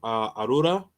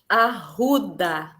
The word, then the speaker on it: Arruda: Um, Shout out to About Brazil, Hosa, Arura. Is that how you say it? Arura? Did I say that right? Arruda. Oh, that's right. That's right. I keep rolling the R's. It's the Espanol. It's the Spanish.